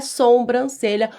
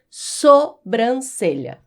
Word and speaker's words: sobrancelha: A palavra é sobrancelha da a gente pronuncia da forma como ela é escrita. Então não é sobrancelha. O correto é sobrancelha.